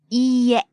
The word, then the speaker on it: いいえ: And be careful when you say いいえ. It has a long E sound. It's spelled E-E, but it's pronounced E. It's a long vowel. Right. いいえ.